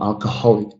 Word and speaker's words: alcoholic: Again, the second one here, alcohol, alcohol, alcoholic, alcohol or alcoholic drink. That suffix here changes the position of the stress.